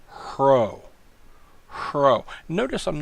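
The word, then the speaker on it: ῥῶ: letter is the letter CRO CRO notice I'm not saying ro I'm saying her oh it's pronounced with the H is softening it up it does make the R sound but it would be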